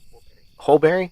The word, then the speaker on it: Holberry: Is it Holberry or Hallberry? I would have to see how it's spelled. Yes, H-O-L. I would say Holberry. Holberry? Okay, I got it right on the first time.